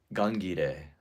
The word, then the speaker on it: Gangire: Um, Gangire, or it's spelled like gun, gire, but Gangire. Um, was thinking of attending